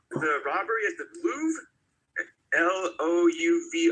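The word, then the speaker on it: Louvre: L O U V R E. I think it's pronounced the Louv.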